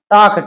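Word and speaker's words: talk: मतलब टॉक है ना, टॉक टी ए एल के एल इसमें साइलेंट होता है, तो टॉकिंग हो जाएगा, टॉकिंग टॉकिंग मतलब पूरा बात करना।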